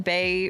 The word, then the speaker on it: Bae: Well, is like my name, and then Bay rhymes with it, so it's just really, it was very simple.